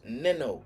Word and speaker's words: Nino: Like Nina, like, you know, like the Nino. That's my name. Nino Brown. Nino is Nino. My name is Neno. So it's pronounced Nino.